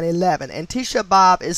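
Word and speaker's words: Tisha B'Av: apart is known as above using this cipher tisha bhav psalms 2 9 11. and tisha bob is spelled t i s h a b apostrophe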